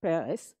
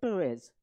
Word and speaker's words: Peres: Rivlin our president replace Shimon Peres fellas not Perez palace the same way we pronounce it as president I want to